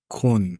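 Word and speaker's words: Köln: Kun.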